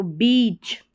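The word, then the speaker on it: beach: Vowel स्वर है, तो यहाँ पर ये जो ए है यानी ई के बगल में ए जो है ये साइलेंट है, यहाँ पर ई साउंड का साउंड निकल रहा है ई का। तो बीच लॉन्ग साउंड है, ई ए का कंबाइंड माने या फिर ई का माने।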